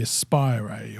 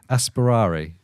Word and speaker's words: Aspirare: I mean, the whole name of it, the Aspire or Aspire or whatever, right? Do you still do? I'm let me hear you say it. Aspirare. Unfortunately, you said it right first time.